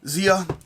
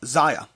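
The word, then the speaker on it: Xia: games i got back zia oh no i just wanted to pronounce this zaya zaya that's what it was i finally looked up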